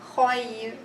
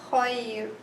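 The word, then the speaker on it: خير: Because whenever the ra has sukoon preceded by a ya with a sukoon, then this ra is pronounced with tarqiq or with softness. I would say khayr, khayr.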